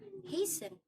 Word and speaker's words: hasten: No T is heard in fasten, hasten, which make them rhyme with arson, mason.